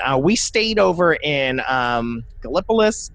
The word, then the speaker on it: Gallipolis: stayed over in um gallipolis gallipolis kiel pronounces it gallopis galapas we stayed over there